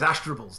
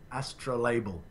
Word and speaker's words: astrolabe: Oh, I can't believe his astrable's no longer turning. His astrable? How did you get that? There's no second L. Astrolabe. Astrolabe. Why did you pronounce it then? An astrolabe. Astrolabe.